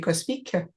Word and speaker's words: cosmique: Exactly, cosmique, the QUE at the end, that mark the French.